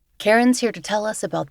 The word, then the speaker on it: Cairen: My name is Karen and just to provide the spelling of